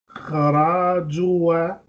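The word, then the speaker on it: خرجوا: Tulabun kharajua kharaju. Kharaju. Alif is silent.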